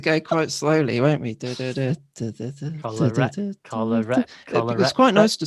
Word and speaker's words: Kolarek: needed a bit more help on top of Kolarek. Is that what we're going for? Said it wrong, guys. Kolarek.